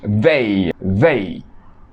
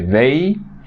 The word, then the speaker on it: they: Y they. Ellos o ellas. Notan bien la pronunciación de they. Estoy poniendo mi lengua entre mis dientes. They. Es como la Z.